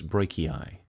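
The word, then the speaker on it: brachii: the icon once you can hear the name pronounced properly biceps Breaky eye double clicking the camera icon will show a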